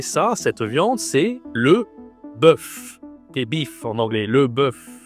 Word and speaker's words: bœuf: cette viande, c'est le bœuf. Bif en anglais, le bœuf. OK. Toujours le e comme l'œuf, la même voyelle pour prononcer ce mot, le bœuf.